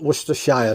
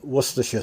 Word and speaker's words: Worcestershire: call it Liam pairings Worcestershire sauce not Worcestershire sauce Worcestershire sauce that's how we pronounce it so anyway uh